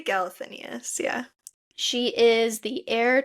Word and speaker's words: Galathynius: We find out that Celaena is Aelin Galathynius. I don't know. Is that how you say her name? Galathynius? Yeah. Yeah. Yeah, I say Galathinius, yeah.